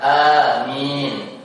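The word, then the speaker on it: آمين: Kemudian kemarin sempat mungkin sebelumnya saya mengingatkan tentang pengucapan amin. Maka yang lebih tepat itu adalah a-nya gak terlalu panjang cukup dua harakat. Amin.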